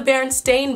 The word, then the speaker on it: Berenstain: It's the Berenstain Bears. Like stain, like stain, the last part, S-T-A-I-N.